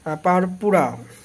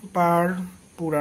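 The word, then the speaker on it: purpura: সংক্রান্ত রক্ত সংক্রান্ত ভাস্কুলার পারপুরা উচ্চারণটা দেখবেন কিন্তু পাশে একবার লিখেও নিতে পারেন কি বাংলা পারপুরা নট পুরপুরা অনেকেই প্রথম দেখলে আমিও পুরপুরা পড়েছিলাম তো এর উচ্চারণটা হবে পারপুরা পারপুরা বা দুই ধরনের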